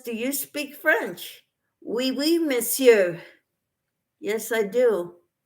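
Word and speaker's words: oui: that and ravan says do you speak French we we miss you yes I do Elaine says French wee wee we is they spell it o-u-i and it means yes Tina says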